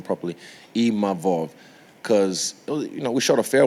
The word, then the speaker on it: Imavov: I learned how to say his name properly, Imavov, because, we shot a fair one, he beat me, and then, cool, we move on, I move forward to the next one.